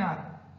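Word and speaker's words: hour: I will come back in ए आर और एन आर, इन एन आर H silent, clear.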